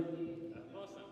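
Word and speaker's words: Mohsen: Mosen. Mos. How do you spell it?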